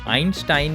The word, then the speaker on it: Einstein: from albert einstein yes this is how you say his name in german einstein means one stone but